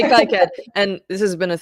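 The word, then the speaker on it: KiCad: i so uh just i learned that it was uh made by people in france so they recommend people say kiket i used to say kai ked and this has been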